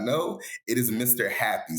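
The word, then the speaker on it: Mr. Jappi: On IG, Instagram, for those who do not know, it is Mr. Happy. So it's spelled funny. It's spelled with a Spanish J.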